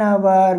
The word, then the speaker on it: hour: So here A horse, A hat, but here an hour because H being a consonant but works like an vowel.